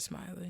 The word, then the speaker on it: Smiley: look at brett smiley's i don't know if it's smiley or smelly or something like that oh my god i hope it's smiling but it is spelled smiley so we're gonna go we're gonna roll with smiley um i met him he said his name is brett smiley it's smiley yeah all right you met